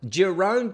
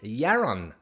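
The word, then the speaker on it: Jeroen: that that's easy now Jerome can't is the way that I pronounced it yesterday said and I love the way that you pronounce my name Jerome Kent try yaron next time yeah run your run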